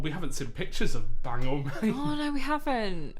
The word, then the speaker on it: Bangor: And also, Bradley Davis has said, bang or, like the stick that you use to row a boat. Okay. We've been corrected. But it's Bang American. or. They changed how it's said. Bangor.